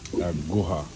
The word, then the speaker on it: aguja: And then you have what, I'm not sure what they call it in here, but it's called aguja. Aguja. That's how you say it, aguja.